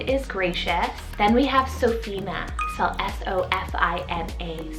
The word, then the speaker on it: Sophina: one means lord is gracious then we have sophina cell s-o-f-i-n-a sophina really great option or alternative to sophia and